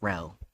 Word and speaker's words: rho: Hey Hatchet, in case you're if you're wondering how to say uh rh, it's row. That's how it's pronounced.